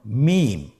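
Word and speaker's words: ميم: মিম। হরফটির নাম কি? মিম। মিম হরফটি উচ্চারণের ক্ষেত্রে অবশ্যই বারিক হবে, পাতলা হবে এবং 3 আলিফ টেনে উচ্চারণ করতে হবে।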